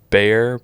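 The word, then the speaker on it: Bexar: other two openers were bare but it's spelled b-e-x-a-r they're like an indie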